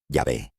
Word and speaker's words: Yahvé: En hebreo, pronuncias ese nombre, Yahvé, pero lo que significa es el que es.